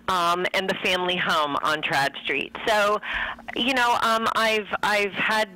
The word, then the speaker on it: Tradd Street: So as you are writing another story in the Trad, am I saying it right? Trad Street? Yes.